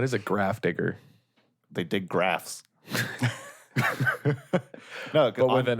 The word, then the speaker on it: Graf: Yeah, because on Innistrad, graves are called graphs. Oh, That's like corrupted graphstone is like the stone at the end of a grave in Innistrad. so they just pronounce it graph.